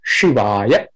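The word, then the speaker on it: शिवाय: Namaha Shivaya, long A, so longer pronunciation, Shivaya. She is short E, so quickly, Shivaya. A is also short at the end, so in the middle, it's a longer vowel, A as in father, long A.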